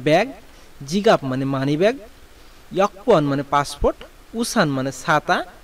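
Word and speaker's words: 여권: এখন আসেন ইয়াকুয়ান, এই উচ্চারণটা আপনার আমাদের এখানে আছে ইয়াগুয়ান, কিন্তু কোরিয়ানরা মূলত উচ্চারণ করে ইয়াকুয়ান, তাই আমাদেরকেও এটা উচ্চারণ করতে হবে ইয়াকুয়ান।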